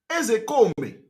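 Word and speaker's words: Ozekhome: All this Ezekome, put K, put H, all those things are nonsense. The real name pronunciation, Igbo. All of them have something to do with Igbo. It's called Mike Ezekome. Ezekome is the real pronunciation in Igbo language.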